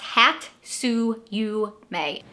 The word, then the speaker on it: hatsuyume: the following year and this tradition is called hatsuyume it's pronounced hat su you may so the word hatsuyume pretty much translates into